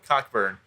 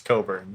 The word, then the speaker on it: Cockburn: original you think it's actually supposed to be pronounced cockburn and like someone in his family was like no it's coburn no all right espn for the first two